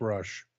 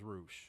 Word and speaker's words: Rush: We're in America. It's Rush. Well, he's from Mexico and it's Roosh.